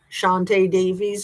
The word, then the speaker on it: Shantae Davies: Shantae Davies, am I saying it right?